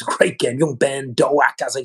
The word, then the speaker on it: Doak: Doak. I think it's pronounced Doak, not Duke.